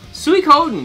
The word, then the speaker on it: Suikoden: Suikoden.